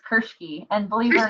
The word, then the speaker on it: Kirschke: Kirsch cool I suppose how do you say your last name that's kind of funny it's Kirksey and believe you're not